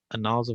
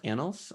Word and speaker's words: Annals: and then at all afterwards and that's uh a novel of operation research what does that mean that's uh so oh it's actually pronounced annals um so analyst of operations research is uh